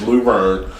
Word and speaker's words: Luverne: Because I don't see any other teams except for Luverne, and that is how you pronounce it. Is Luverne. not Laverne? It's not Laverne.